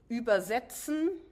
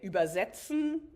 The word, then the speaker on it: übersetzen: You just stress it differently. If you say übersetzen, it's the process of, the intellectual process of translating something from one language into the other. If you stress it on the first syllable, übersetzen, then it's the ferryman taking you across the river to the other shore.